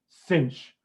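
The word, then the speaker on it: sinh: thing but i usually just say cinch for this cinch like the english word cinch c-i-n-c-h cinch this one i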